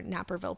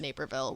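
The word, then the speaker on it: Naperville: And then um they corrected our Napperville pronunciation and also Duposh.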